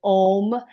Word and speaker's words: Om: Now we're doing om. A u m a o.